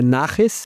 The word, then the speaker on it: naches: E aí um das recompensas que eles têm lá, na verdade a pronúncia certa é nares porque é é do idioma idos judeus, que significa o orgulho que eu sinto quando um mentorado meu obtém sucesso.